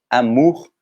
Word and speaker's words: amour: Então a gente não vai pronunciar amour, ou bonjour, o OU só faz um som, é o U, bonjour, amour, uri, nous.